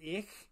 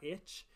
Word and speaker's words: ich: translation to say that oh ich is ich and not itch so like you really